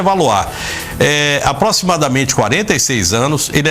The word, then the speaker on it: Valois: Não sei se a pronúncia é essa. Se for francês, é Valois.